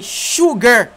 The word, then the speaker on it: sugar: Listen carefully to the way I pronounce the third way, the third number. The third number is, troisième numéro, c'est sugar. Moi, dis c'est sugar. Sugar. Pas dit sugar.